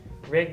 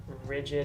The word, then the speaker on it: RiGd: above rigged um yeah the name comes from the idea of your rig obviously your vehicle um and then also when you're all geared up as you intend for a given trip you're all rigged up so rigged is the name uh the Mis mispronunciation of rigid is probably the one that we get the most um it's kind of